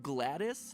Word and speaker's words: GLaDOS: As far as how you pronounce GLaDOS, GLaDOS, Gladys apparently is a viable option. It's at least in the Wikipedia page.